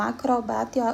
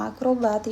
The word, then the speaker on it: acrobata: A gente viu até acrobata, que algumas pessoas falam acrobata e outras falam acrobata, e os dois estão certos.